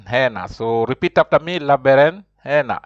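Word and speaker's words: berenjena: so repeat after me laber Hana h j is pronounced like H that's why you say you don't say labera you have to say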